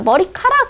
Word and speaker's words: 머리카락: 우리가 어떻게 발음해요? 머리카락 이렇게 마치 히읗이 있는 것처럼 발음하죠?